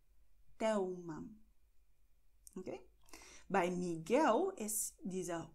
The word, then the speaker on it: Telma: L am Wortende oder L am Ende der Silbe vor Konsonant wird wie U ausgesprochen. Das heißt Miguel Thelma. Miguel Thelma.